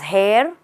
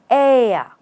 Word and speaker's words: heir: who is that person is that person someone's hair or someone's air no R and no h just air they are the air